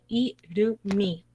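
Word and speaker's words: 이름이: que es la pronunciación, la M se combina con la I que sigue. Y entonces viene siendo irumi.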